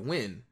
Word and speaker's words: Nguyen: The last name is pronounced Win.